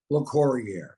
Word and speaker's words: Locorriere: the messenger the man so I just kind of Americanized it into La Courier and people still can't say it so you can call me Dennis it's it's almost the French pronunciation now it is I